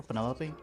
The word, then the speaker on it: Penelope: delightful Betty pointer pleasure is that short for Penelope officially yes but I never can be bothered with all four syllables of it Penelope sounds a little